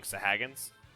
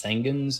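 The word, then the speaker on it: Sahagin: like pronounce out loud i used to think of them as sangins and so i still think of them as sangins which is completely wrong but i mean they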